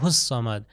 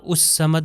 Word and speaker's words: الصمد: بھی اسی طرح اللہ الصمد، اللہ اس صمد نہیں کہنا، الف سے تلفظ نہیں کرنا۔ دیکھیے اگلی آیت پہ